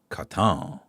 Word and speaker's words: Wotan: Uh, Wotan is pronounced with a Germanic a W. So it's uh, Katan.